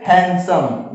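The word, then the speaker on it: handsome: ठीक है, यहाँ पे दिया लिखा है हैंडसम, लेकिन इसको पढ़ेंगे हैंडसम। यहाँ पे भी क्या हो जाएगा? साइलेंट हो जाएगा।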